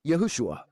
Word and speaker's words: Yahushua: But when we go to pronounce his name, we should say it the way his mother, his earthly father, his stepfather, his friends, his brothers and his disciples called him Yahushua.